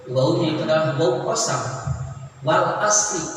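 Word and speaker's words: وَالْعَصْرِ: Wal asri, tidak boleh kita membacanya wal asru atau wal asro, nah harus dengan majrur.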